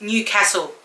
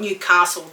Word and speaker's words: Newcastle: Oh, New South Wales, it's Newcastle, not Newcastle. There's no R. There's no R in castle.